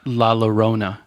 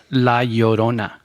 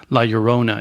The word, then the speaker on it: La Llorona: Okay, so non-Spanish speaking people, the double L, it translates into a Y sound. So it's not La Llorona, which I've heard a lot of people pronounce. It's La Llorona.